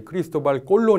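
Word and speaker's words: Cristóbal Colón: 혜진이 이름입니다 그래서 그 크리스토퍼 콜럼버스를 에스파니아 식으로 발음하면 이제 크리스토발 콜론 입니다 그래서 그 이름을 딴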